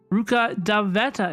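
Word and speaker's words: Rukkhadevata: Ally you are Le it should be the same letters just a different vowel sound Ruka daveta is how it's pronounced hi doodle sapl how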